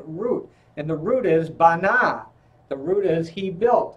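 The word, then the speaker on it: בנה: And the root is bana.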